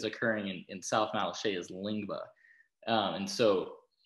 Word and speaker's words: Lyngbya: But it's actually Lyngbya. It's I believe that's how you pronounce it.